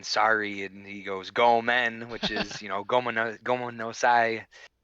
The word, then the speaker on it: gomen: And he's saying ramen, and he was saying sorry, and he goes gomen, which is gomen no sai. Uh-huh. But It rhymes with ramen, yeah.